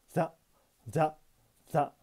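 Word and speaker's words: ざ: 표기가 거의 불가능한 글자입니다 사사를 발음할 때의 혀 위치에서 자자를 발음한다고 생각하면 됩니다 쉽게 되지 않습니다 자 자 자 정확히는 혀끝을 앞쪽 경국의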